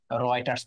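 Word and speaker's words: Reuters: তারপরেও REU হচ্ছে উচ্চারণ কি হচ্ছে? রয়।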